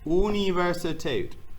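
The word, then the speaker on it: Universität: cool guy right there but this is pronounced here universitate universitate uni it and notice that r sound in that universe is really small when you have acetate okay and we have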